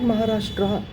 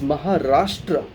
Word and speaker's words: Maharashtra: it like that but it is not Maharashtra it is Maharashtra there's only it's a great nation it's a great state so we call it Maharashtra but because we write an A in the end we start calling it